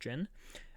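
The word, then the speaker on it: jinn: It's pronounced jin.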